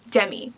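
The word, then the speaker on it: Diemmi: am my name is jemmy it's spelled d-i-e-m-m-i it's spelled weird i know but demi that's how you pronounce my name um today we are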